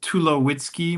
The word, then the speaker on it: Tulowitzky: Well, uh my name is Tulowitzky, my my surname. Sometimes people mispronounce it. And so I have a little pneummonic I like to share that if you take away my wits, I'd be too low-key.